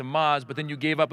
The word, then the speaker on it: Maz: You Marissa thank you you mispronounced my first name you said but then you correct it to Maz but then you gave up and went with mr.